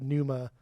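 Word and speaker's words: Pneuma: But Numa, that's how you say it.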